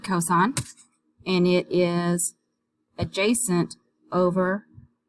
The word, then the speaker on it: cos: cosine you abbreviated cos whenever you see cos you pronounce it cosine and it is adjacent